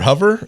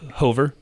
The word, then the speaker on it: Hover: to go over or hover it is spelled h-o-v-e-r Eileen H that's that looks like Hoover okay Eileen Hover was